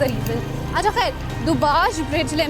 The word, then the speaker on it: Dubazh: Okay, we are crossing this beautiful bridge, इसको दुबाज bridge कहते हैं। DUBAZH इसके ZH एक्चुअली इसके स्पेलिंग है।